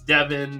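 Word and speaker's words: Dydyn: You can throw in any vowels in his name, and it sounds the same if it's an A or an O or an I. It's Devin.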